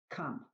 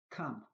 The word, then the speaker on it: come: When letter O is before letter M, N or V, letter O is pronounced as U. Come. Come.